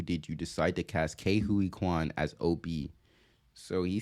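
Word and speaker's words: Ke Huy Quan: he got his role for Obie um um Kwan Juan I forgot how to pronounce it already let's run it back Ki Kuan all right got to keep that in mind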